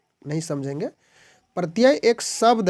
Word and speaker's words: प्रत्यय: आपका प्रति या कि इसका उच्चारण प्रति प्रत्यय का तो प्रति य इस तरह से होगा तो प्रति आपका इसमें